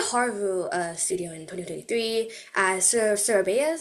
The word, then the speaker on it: Surabaya: You started Haru Studio in 2023 as Surabaya. Am I pronouncing it correctly? Yes, it is Surabaya.